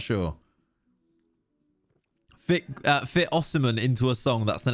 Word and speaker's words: Osimhen: Aussie man, Victor Osimhen. Osimhen. It's really hard to not say his name as Osimhen, because you're saying the word seaman a lot when you say his name sometimes.